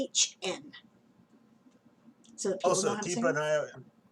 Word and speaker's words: Siobhan: writer _ and then she gives the phonetic pronunciation SHIVAHN.